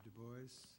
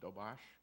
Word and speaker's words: Dubois: morning will recognize Mr Dubois first and uh hope I pronounced it right uh close not quite but it'll do okay tell me it's actually a Polish name it's pronounced dobash debash okay but I'm married